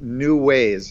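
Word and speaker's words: Knewways: it haha well I I have a thing called new ways it's spelled with a k KN e WWAY s new ways to evolve and it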